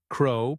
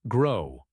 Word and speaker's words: crow: Crow pronounced as grow. Correct. Crow. Crow. The C sound is softer than G.